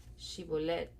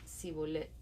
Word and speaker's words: Shibolet: Si decía el hombre: No, no lo soy, ellos le pedían que pronunciara la palabra Shibolet. Si era de Efraín, diría Sibolet, porque a la gente de Efraín le cuesta pronunciar bien esa palabra.